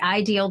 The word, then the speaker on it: Deihl: very puny last name I call it the ideal day spelled like i d i HL which is my last name okay very lucky I